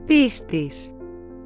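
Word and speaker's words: πίστις: This is how these two words are pronounced. Pistis.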